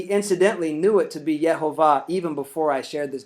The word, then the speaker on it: יְהֹוָה: this wasn't the kite way however he could pronounce the name and he incidentally knew it to be yehovah even before I shared this detail with him